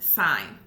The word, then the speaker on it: sine: sign s I and II but it is pronounced like s IGN sine cosine and then tangent and tangent does get